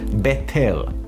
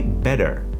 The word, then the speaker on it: better: mouth when we say better as an example we don't pronounce the t's in the middle as t like we don't say betel we say better like a d time